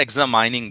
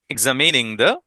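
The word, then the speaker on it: examining: করবে অনেক শিখতে পারবেন এটা আমরা এক্সামাইনিং বলি আমিও বহু বছর ভুল শিখেছি এখন ভুল করেছি এখন অনেক ভুল করি এক্সামিনিং patient এক্সামিনিং patient next আমরা যাচ্ছি জাস্ট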